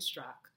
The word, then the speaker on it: Straka: let us know specifically it's a German name it has a at the end of it but the AE is silent so it's actually Brandon struck and we were at